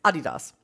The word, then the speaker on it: Adidas: if I could offer something, since it's a German company, it's Adidas.